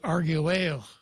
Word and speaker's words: Arguello: is not a diphthong you have to pronounce this letter so it's Chico Arguello but the Double L doesn't become a j are you L argue well that's right it's probably argue well and espanol yeah her our